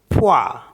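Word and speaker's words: froid: होता है नॉर्थ ऐसे एफ आर ओ आई डी इसमें भी डी साइलेंट है तो इसको पढ़ते हैं फवा फवा फ फ फ्र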